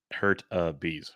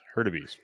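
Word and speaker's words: Hurtubise: It's pronounced Hurtabees. Hurtabees.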